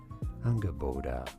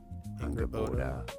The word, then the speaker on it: Angrboda: In English, it is normally said as Angrboda, Angrboda, or Angrboda.